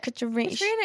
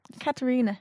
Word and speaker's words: Katrina: Like Katrina is correct though. She says it like with Katarina with like 8 syllables in it.